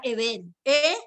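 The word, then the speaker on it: אבן: Es la palabra eben, B larga, E-N, eben. Eben, así se escribe piedra en hebreo, ¿listo?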